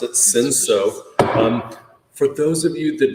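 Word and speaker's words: Cinsault: It looks like Sin Salt, but we pronounce it Sinso.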